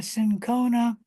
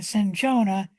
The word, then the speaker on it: cinchona: The first chemotherapeutic agent, or the first antibacterial agent, was actually quinine from the bark of the cinchona or the cinchona tree. Both pronunciations are correct.